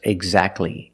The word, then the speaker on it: exactly: And when you see T between consonants, it's silent. Don't pronounce the T. If you link the sounds, do not pronounce the T. Examples, exactly and Christmas.